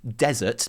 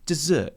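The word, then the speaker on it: Désert: desert and yes yes I know his name is almost certainly pronounced desert but to me his voice is just so smooth and yummy and basically makes my heart melt like ice or chocolate pudding so he will always be dessert to me okay there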